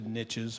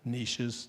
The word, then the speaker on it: niches: It's a wall structure, and in that wall structure, each of the niches or niches, depending on which way you'd like to pronounce that word, is intended for double occupancy.